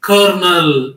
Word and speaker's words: colonel: the spelling is a colonel but it's a pronunciation is Kernel okay so that's why the grammar is needed